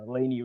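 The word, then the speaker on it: Lainy: That's how it's pronounced Laney, right?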